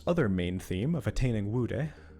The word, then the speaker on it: Wude: main theme of attaining Wude. I don't know how to pronounce it. I got it right. I got it right. It's fine. It is woud.